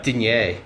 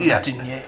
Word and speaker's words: Digne: I've said his name right this time. Yeah, that someone put it on Twitter, didn't he pronounce it, yeah? Digne. Whoever did that, thanks. I think it was Alan Myers. Yeah, sounds sexy, that's Digne. Yeah, so cheers, Alan. Thanks for giving us the correct pronunciation.